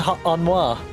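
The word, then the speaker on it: Honoroit: a isn't it supposed to be onoir that's supposed to be pronounced onoir this is definitely a new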